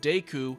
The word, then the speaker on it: Deku: mislabeling the Triforce and saying Duku in Ocarina of Time instead of Deku in Ocarina.